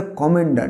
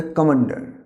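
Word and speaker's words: commander: এই ওয়ার্ডটাকে বলবো, অনেকে আমরা কমান্ডার বলি, কমান্ডার, এটা একটা মিলিটারি পদ, এটা কমান্ডার না, কমান্ডার, রটা সাইলেন্ট, কমান্ডার, ময়ের ওপরে স্ট্রেস পড়বে, হবে কমান্ডার।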